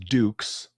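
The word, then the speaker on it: Dux: Johnny Cage was inspired by Captain Frank Dukes, spelled D-X, pronounced Dukes, of the US Army.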